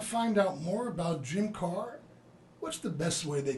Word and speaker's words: Kahr: spell you in it because it has a silent H it's pronounced car but it's ka h